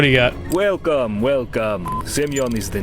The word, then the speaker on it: Semyon: You know, I should have figured it was Semyon, but I didn't think it would be pronounced that way, so I just went with Simon.